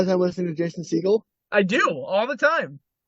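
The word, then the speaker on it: Segel: I don't know exactly it's it's Jason seagull but Stephen Seagal yeah yeah I did know Stephen seagull for sure I knew that that's how you pronounced that seagull sorry seagull just you know it's a bird that's what your last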